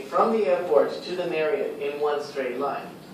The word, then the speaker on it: Marriott: So of course, Marriott, American hotel chain, the way to pronounce it is Marriott.